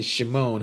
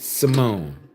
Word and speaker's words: Simone: I'm so sorry because I keep saying Shimone. Huh? Simone. Let me say it right. Simone, not Shamon.